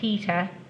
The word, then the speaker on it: theta: line across it right okay right and that's pronounced theta and it's a greek letter right don't ask